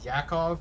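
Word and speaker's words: Jakov: It's a It's Yakov, but uh traditional spelling is incoming 911 call or J A K O V.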